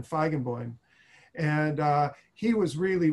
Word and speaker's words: Feigenbaum: the time was named well in english his name would be pronounced benjamin feigenbaum but yiddish was benjamin feigenboin and uh he was